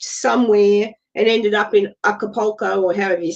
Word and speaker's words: Acapulco: Yeah, Acapulco.